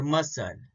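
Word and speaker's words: muscle: तो एग्जांपल देखते हैं, सीजर, एसेंट, फैसिनेट और मसल। इसमें एस सी का कॉम्बिनेशन है तो सी साइलेंट होता है।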